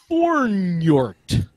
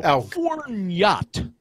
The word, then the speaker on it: Fornjot: I don't care how I mispronounce this. It will not give you a clue either way. Here you go. Okay. Fornjort. No, Fornjot.